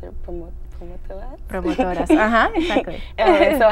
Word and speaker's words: promotoras: And I know you were once, how do I pronounce it? Promotoras? Promotoras, exactly.